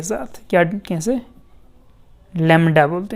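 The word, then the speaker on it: lambda: इसको डिनोट करते हैं लैम्डा के साथ, क्या कैसे, लैम्डा बोलते हैं इसको, लैम्डा, लैम बी भी होता है इधर, LAMBD, तो बी को थोड़ा साइलेंट कर देना, सीधा लैम्डा ही बोलना है, ठीक है।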